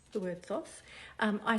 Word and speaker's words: Thoth: knows how to say that word how to pronounce the word Thoth I say Thoth but feel free to pronounce